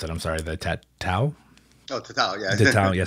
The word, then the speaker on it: tatau: you were doing the tattoo, well, I can't pronounce it. I'm sorry. The tatau.